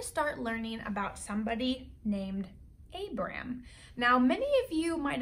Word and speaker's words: Abram: So in this book, it actually says Abraham, but really it was pronounced Abram.